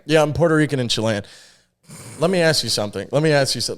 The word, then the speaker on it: Chile: said cool cool cool I say Chile Chile so John get John gets really upset at me from America John gets so upset American accent what do you well you don't say the American accent you say Chile yeah it just sounds weird if you say Chile